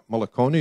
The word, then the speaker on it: Mullacone: And then the next one is Mullacone, if I have that pronunciation correct. Good. And Katie Karabokh.